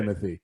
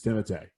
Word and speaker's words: Timothée: Is it seriously pronounced Timothée? It is 100% pronounced It is. Timothée. I sent it to Chuck or to Todd to make sure he said it right. It is That's not right. Timothy. It's Timothée. Timothy.